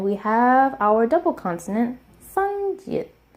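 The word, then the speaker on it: 쌍지읒: And we have our double consonant, sangjiet. Sangjiet is pronounced like a tensed J sound.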